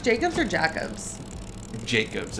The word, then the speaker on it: Jacobs: Is that pronounced Jacobs or Jacobs?